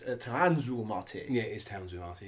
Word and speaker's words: FM Towns Marty: Some might say that the Mega Drive was a Poundland FOMU Towns Marty. He's pronounced that wrong. It's Tanzu Marty.